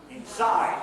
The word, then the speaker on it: inside: Inside, second syllable stress. Not inside, but inside. Okay?